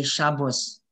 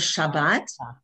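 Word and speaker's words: שבת: And that Ashkenazi, when they say Shabbos, or they used to pronounce the one that looks like a T as or. Or. But we don't. In modern Hebrew, it's ah. Okay? So if you look at the bottom, it says Shabbat.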